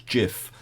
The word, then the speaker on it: GIF: is of course okay for me it's definitely uh gif i don't know about all of you i think perhaps should have a vote on that whether or not it's gif whether it's a j or a g but i'm i'm sticking with gif okay even though steve wilheit who invented the format insists it's jif jiff as far as i'm